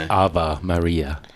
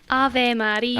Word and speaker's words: Ave Maria: It's Ava Maria. Ave Maria. Ave. No one knows how to say it here except Mr. Kirk. Porter, could you say it? Ave Maria.